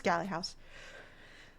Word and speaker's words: Galley: And at first I wasn't sure how to say it, because I'm like, it's spelled Galley, but what if it's Gailey or something? But it's Galley House.